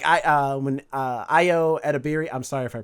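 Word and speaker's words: Ayo Edebiri: Like when Io Edebiri, I'm sorry if I pronounced her name wrong. Streamberry. No, Io Edebiri, that's her name.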